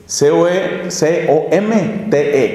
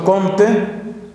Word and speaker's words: Comte: para ser francos, que se llamó Auguste Comte, C-O-M-T-E, Comte.